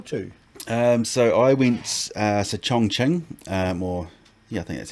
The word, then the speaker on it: Chongqing: So I went to Chongqing, I think that's how it's pronounced, Chongqing, sort of right in the heart of China.